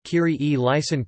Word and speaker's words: Kyrie eleison: In ecclesiastical Latin a variety of pronunciations are used, the Italianate Kyrie eleison Christe eleison having been proposed as a standard.